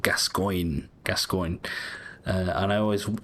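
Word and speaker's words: Gascoigne: um this guy so this guy is called gascoin gascoin uh and I always I always enjoy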